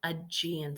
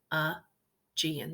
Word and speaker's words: Aegean: On the east coast is what's pronounced the Aegean Sea. I know it doesn't look like it says Aegean, but the way we pronounce it is Aegean. The E is kind of silent.